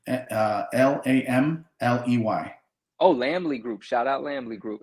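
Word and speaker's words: Lamley: give me the name again so I don't mispronouncing landly lambly uh l-a-m-l-e-y oh lambly group shout out lambly group absolutely yeah man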